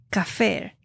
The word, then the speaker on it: kaphar: lugares del Antiguo Testamento es equivalente al hebreo cafer k a p h a r que significa